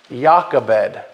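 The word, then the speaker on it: Jochebed: moses's father took him yakabed that is moses's mother's name spelled j-o-c-h-e-b-e-d but it is pronounced yakabed like yahweh the first part of it is yah and it says his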